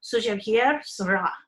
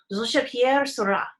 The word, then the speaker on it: Georges Pierre Seurat: This one guy, it looks like if I was pronouncing it English, It looks like Georges Pierre Seurat, okay? But it's pronounced Georges Pierre Seurat.